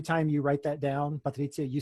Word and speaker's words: Patrizia: We are going to move on to Patrizia, and that's how you pronounce it, whether you're in Italy or not.